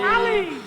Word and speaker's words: Halley: H is Halley, which I'm told should rhyme with Polly. Halley.